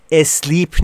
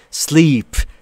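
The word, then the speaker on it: sleep: جمله اومده یعنی بخواب بچهها این هم باز یکی از اون مواردی که زبان آموزان به شدت اشتباه تلفظ میکنن اسلیپ نیست عزیزان دلم سپ سپ یعنی خوابیدن تا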